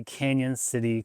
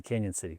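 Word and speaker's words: Cañon City: Now the railroad and the Royal Gorge, they are right by Canyon City, Colorado. Canyon is spelled without the Y. It's got the little squiggly over the N.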